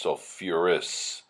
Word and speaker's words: sulfurous: like sulfite becomes sulf sulfite becomes sulfurous you have to add that extra syllable followed by the word